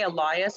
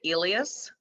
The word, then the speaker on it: Elias: I do say Elias, I do not say Elias. I'm one of those people, the Porsche people, who prefers to disambiguate his name to more of a Western pronunciation.